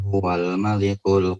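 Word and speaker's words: الملك: Tapi kalau seandainya antum baca sebelumnya, huwal malikul quddusus, ya. Jadi al-nya, A-nya enggak kebaca. Langsung huwal malik, ya.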